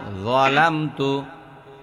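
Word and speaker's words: ظَلَمْتُ: আল্লাহুম্মা আল্লাহুম্মা ইন্নী যালামতু নাফসি নাফসি টান দেন নাফসি যুলমান এই যুলমান কাসীরা কাসীরা নইমা আল্লাহুম্মা ইন্নী যালামতু জোয়ার উচ্চারণ হয় না, যালামতু আল্লাহুম্মা ইন্নী যালামতু নাফসি যুলমান কাসীরা রাশিদা খাতুন।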